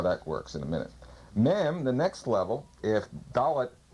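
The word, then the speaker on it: מם: Mem, pronounced M, means water, sea, mother in Hebrew.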